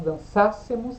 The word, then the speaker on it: dançássemos: Se nós dançássemos, aí tem acento, ó, cuidado com o acento. Dançássemos, porque é uma proparoxítona.